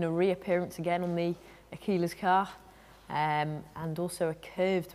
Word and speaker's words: Aquila: Aquila we went for.